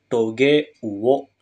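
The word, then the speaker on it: 棘魚: kanji berikut ya minasang maka dia akan dibaca toge Uwo toge itu Duri ya minasang jadi ikan Berduri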